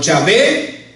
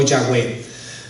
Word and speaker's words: Yahweh: Entonces los estudiosos nos dicen que esa es la pronunciación más cercana, hermano, Yahvé o Yahweh.